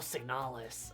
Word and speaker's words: Signalis: I put a lot of emphasis on the last part.